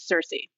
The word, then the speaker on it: Circe: and foremost sure so there's the modern day English pronunciation which is what I went with for the book which is Cersei but the original Greek